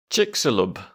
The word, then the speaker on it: Chicxulub: that is very cool the pronunciation according to the internet is Chick salub good to know very